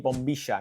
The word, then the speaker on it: bombilla: Now in Argentina, this is called a bombisha. Now remember in Argentine Spanish, the majority of the time the double L and the Y are pronounced as sh, right?